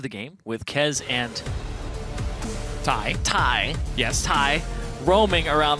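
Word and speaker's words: Thy: like i think it's thai yes so it is spelled t-h-y but pronounced tai and he is replacing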